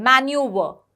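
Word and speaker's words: manoeuvre: इसमें जैसे इसमें भी आर का साउंड ये थोड़ा सा दबा देते हैं। मैन्यूवर। ठीक है? तो व बोल रहे हैं। आर का प्रोनाउंसिएशन या साउंड हमें सुनाई नहीं देता है। वो जनरली स्पेलिंग में आता है। बट इनकी प्रोनाउंसिएशन में वो आर नहीं होता है।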